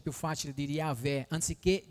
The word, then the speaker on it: Yahweh: è più facile dire Yahweh anziché Geova, perché Yahweh è molto più vicino a quello che è, perché se è una Y non posso mettere una J, è un'altra lettera completamente.